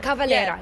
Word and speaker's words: Max Cavalera: I believe the first band that I've noticed had dreads was Korn, and then Sepultura, Max Cavalera, and if I pronounce that correctly. Max Cavalera. Cavalera, yes.